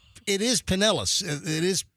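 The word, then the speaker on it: Pinellas: But it's it's it's it is penellis. It is pronounced penellis. It's not pine nellis.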